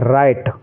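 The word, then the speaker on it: write: इसको हम क्या पढ़ेंगे राइट क्या पढ़ेंगे राइट क्योंकि इसमें डब्लू का कोई उच्चारण नहीं करना है डब्लू इसमें साइलेंट रहेगा कुछ बच्चे इसको ब्राइट पढ़ते हैं ब्राइट जो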